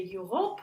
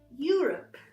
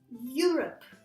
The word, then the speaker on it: Europe: So it's you, and the stress goes to this first syllable, because again, if you are a French speaker, you could try to say Europe or here, yeah, to the second. No, it's Europe. Repeat after me. Europe. So you, not L.